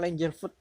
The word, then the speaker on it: Langeveld: Menurut tulisannya itu Langeveld, bacanya Langerfoot.